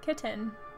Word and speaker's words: Kitten: That's how she talks to it, is Kitten. So, rhymes with mittens.